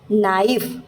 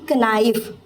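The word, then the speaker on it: knife: का है ना कि जब स्पेलिंग में के और एन साथ में आ जाते हैं ना तो फिर के जो है वो साइलेंट हो जाता है। उसको पढ़ा नहीं जाता। जैसे नाइफ क्या पढ़ेंगे? नाइफ ना कि कनाइव। सिर्फ नाइफ।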